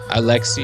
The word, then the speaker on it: Alexi: He just had a followed, so actually found out how to say his name. Alexi. Very nice. Alexi, but his brother called him Atsi when he was 2 or something because he couldn't pronounce it.